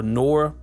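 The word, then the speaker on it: Noir: It has this kind of old feel, like Noré feel, or Nor. I think it's Nor is how you say that correctly.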